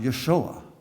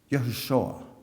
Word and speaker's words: Yeshua: ok i'll accept that and it's pronounced Yeshua Yeshua and Mary's name would